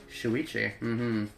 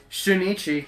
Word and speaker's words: Shuichi: Shuichi. Shunichi. God, no.